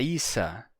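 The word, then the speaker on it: عيسى: entretanto temos também em árabe a forma a Isa para esse nome e aí você se pergunta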